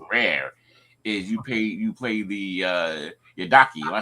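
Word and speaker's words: Yidaki: I think best for, and my favorite one because it's rare is you play the Yadaki.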